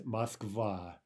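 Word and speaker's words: Москва: the actual Russian is Moskva and for that reason the stress is on the second syllable and both the awe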